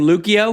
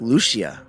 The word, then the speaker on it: Lucia: Do you pronounce her her last name? Lucio. I think Lucia.